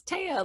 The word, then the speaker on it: Thea: once you know yeah like it's taia like playa and then feel really